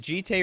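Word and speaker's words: Jitte: Chad the other day is it GTA or Jet and they said the Japanese would pronounce the Gite so it's jite that's Canon now uh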